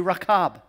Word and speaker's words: Rahab: Her name, Rahab, is actually pronounced in the Hebrew, Rahab.